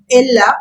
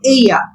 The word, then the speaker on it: ella: a female but in Spanish we don't say Ella we say Aya double is pronounced as y in Spanish so we say